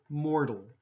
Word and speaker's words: mortal: So in here, mortal, that's okay. Mortal with a D, okay? Mortal. Practice both. You decide.